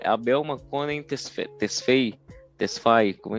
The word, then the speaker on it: Tesfaye: Tesfaye, como é que se pronuncia? É, Tesfaye.